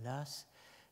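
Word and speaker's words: Law: le nom est Edmund Lass, Low, prononcé à l'écossaise, hein, Lass.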